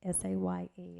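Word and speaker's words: Saye: And I accidentally skipped Say, S-A-Y-E, it looks like. Please correct my pronunciation, I'm sorry.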